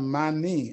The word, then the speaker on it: Manie: My last name is pronounced Manie, M-A-N-I-E is Manie.